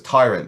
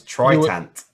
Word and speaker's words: Tritant: Then we have, and I got the name wrong on this one because I thought it was Tyrant, but it's not. It's Tritant.